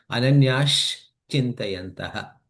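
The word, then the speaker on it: अनन्याश्चिन्तयन्तः: Instead of Ananyaha, ha, is there, right? That is going to be replaced with sh. Okay. So it becomes Ananyash Chintayantaha. Anaya chintayanaha.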